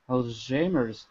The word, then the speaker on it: Alzheimer's: You got the Al's right. Al's? Alzheimer disease. Alzheimer disease. Close. Lonnie? Alzheimer's disease. No, Al's high.